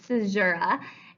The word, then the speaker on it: caesura: The next thing is called a caesura. It's spelled kind of weird, but that's how it's pronounced. It's caesura, and it's a pause within a line that helps maintain the rhythm of the line.